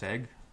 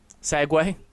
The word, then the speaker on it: segue: I thought it was pronounced Seg. Segway? It's not how it's spelled.